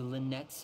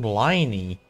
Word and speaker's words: Lynette: someone pronounced the name liny oh what it's so weird her name is pronounced Lynette for some reason they got that right and then the moment